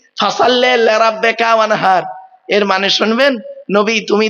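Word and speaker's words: وانحر: লিরাব্বিকা ওয়ানহার, ফাসাল্লি লিরাব্বিকা ওয়ানহার। এই গলার ভেতর থেকে এটা উচ্চারণ করবেন। মা বোনেরা বাবাজিরা মুরব্বীরা শুনে নিন, ফাসাল্লি লিরাব্বিকা ওয়ানহার, এই গলার ভেতর থেকে এটা উচ্চারণ করবে। হাই হুতি, হাই হাওয়াজ নয়।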